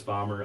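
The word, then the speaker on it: Bahmer: name okay bomber bomber which is spelled b-a-h-m-e-r okay that's what i've released a lot of stuff under um if you look up bomber on youtube okay you'll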